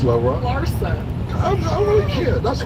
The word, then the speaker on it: Larsa: So I think a lot of females, Larissa Pippen and them, don't even. You always say Larissa, but it's okay. It's Larissa. Larsa.